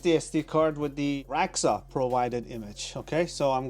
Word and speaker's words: Radxa: people are telling me that it's not pronounced raxa and they said no it is exactly how I was used to saying it so raxa okay that's how it is pronounced and I explained it in one of